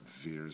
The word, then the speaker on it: wir: That's wir sind. And a German W is pronounced as a V.